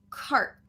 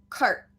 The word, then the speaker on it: cart: sound gets cut short so for example this word cart different than car where we have that full r sound coming all the way out car i like to drive in my car right versus adding the stop t now we have cart cart so it's going